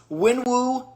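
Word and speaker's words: Wenwu: I mispronounced it, and that is unacceptable. It is lychee flavored water, and it is Winwu, the number 3 villain for me in the MCU, and lychee flavored water.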